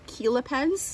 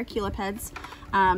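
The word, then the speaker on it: chelipeds: here they are called Keela pens they're spelled like cello pen but they're Aquila peds these are obviously for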